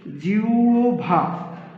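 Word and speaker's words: জিহ্বা: থাকে হয় বডি থাকে এবার উচ্চারণের ক্ষেত্রে হ ই = হ টা হবে হচ্ছে ও এবং ব টা হবে হচ্ছে ভ যেমন আমরা যদি উচ্চারণ করি জি ও ভা তাহলে হবে জি ও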